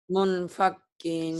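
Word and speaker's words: مُنْفَكِّينَ: Ikhfa itu gimana cara bacanya? Kalau nun mati atau tanwin ketemu fa. Eh, menjadi M. Tapi nya ada N juga. Menjadi M tapi bendeng juga ya.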